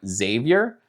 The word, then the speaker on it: Xavier: The next letter in the English alphabet is X, and sometimes the X can be pronounced like a Z, like xylophone, or the name Xavier, but we can also say like X-ray, and that's X.